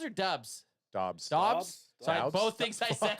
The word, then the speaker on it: Dobbs: Is it Daubs or Dubs? Dobbs.